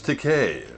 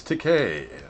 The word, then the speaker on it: Takei: bit the names Takei rhymes with okay I call them mr. Takei he goes actually it's Takei rhymes with okay three or four scenes